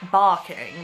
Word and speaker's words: Barking: i remember because it's called barking but it's pronounced balking because you know the ours